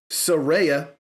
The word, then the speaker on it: Saraya: It is Saraya, apparently.